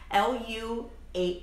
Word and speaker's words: 六: city called nu and l u8 n so even though it's written as Leo Liu base pronounces Lu so that's why it's always lu and that's not even an a.m.